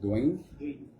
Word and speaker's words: Duane: How do I pronounce it? Dwayne.